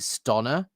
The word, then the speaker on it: Stana: Stana rhymes with Donna says, well, hold on. Firstly, Stana rhymes with Donna. So what is it? Stonna rhymes with Donna.